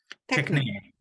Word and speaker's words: Techne: Am I pronounced properly? Techne? Techne.